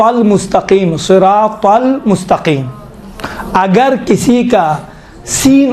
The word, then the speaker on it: صراط: زیادہ فرق نہیں ہے۔ اسی تا کا تلفظ کو تھوڑا موٹا بنائیں تو ہی بنتا ہے۔ صراط المستقیم، تل نہیں ہے، تل مستقیم، تھوڑا سا موٹا انشاءاللہ تعالیٰ اس میں